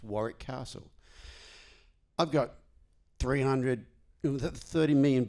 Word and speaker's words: Warwick: for 35 years and no one in America knows you don't pronounce the second W in Warrick.